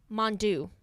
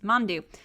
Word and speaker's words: Mandu: is a little more of a scaredy cat mondou thank you i was like yup that's it that's how you pronounce mandu and so so yeah that's dave um speaking